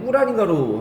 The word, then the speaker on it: 꾸란: 거기에 발음이 꾸란인가로 하대. 코란이 아니라 꾸란인가. 거기에 나오는 내용이 아마 이슬람은